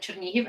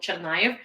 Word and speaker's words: Chernihiv: Someone that I know who's American, they're with Ukrainian heritage, but they did not know that Chernihiv is pronounced like Chernihiv, and for the longest time they called it Chernayev.